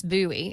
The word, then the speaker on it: Bowie: you look at it, it looks like that, but it's Bowie.